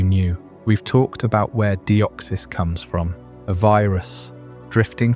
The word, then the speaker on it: Deoxys: Let's start with the name Deoxys. It's not a random syllable combo designed to sound cool, though it certainly does. Say it slowly and you'll hear the echo of deoxy ribboucleic acid DNA, the molecule that encodes